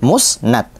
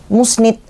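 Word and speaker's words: مسند: bahas ke materinya ya almusnadu bifathin Nun almusnad dibaca dengan fathahnya Nun berarti musnad kenapa harus ada penjelasan pakai dengan fathahnya Nun kan UD jelas enggak takut nanti di sana ada orang bacanya dengan musnid Ji nanti maknanya berbeda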